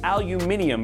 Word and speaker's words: aluminium: Isn't that how they say it in Apple? Aluminum. That's aluminium for all you Apple fans out there.